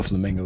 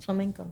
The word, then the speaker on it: flamenco: up but it happens no flamingo guitar is that how you say it Flamingo Flamenco Flamenco I need to learn